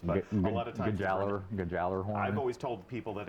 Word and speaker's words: Gjallarhorn: One of the most iconic weapons, one of the most debated pronunciations. I think we got it now. Gjallarhorn. I'm sure anybody I know from that. Europe would tell us that we're a bunch of fools, but a lot of times Gjallarhorn.